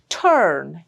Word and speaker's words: turn: Turn. It's not turn, not a or a. It's turn.